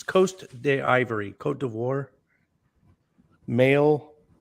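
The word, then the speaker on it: Côte d'Ivoire: i know it's coat it's coast de ivory cote d'ivoire male 1 uh he lives in the ivory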